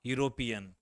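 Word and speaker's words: European: पर मैंने क्या देखा यह वर्ड शुरू हुआ ईयू और इसका उच्चारण होता है यूरोपियन यूरोपियन तो यहां पर जो है हम जानते हैं ई भवेल है य भवेल है लेकिन इसके पहले हम लोग किसका प्रयोग किए हैं ए आर्टिकल का क्यों किए हैं क्योंकि इसका उच्चारण जो होता है यू हो रहा है इसलिए यहां पर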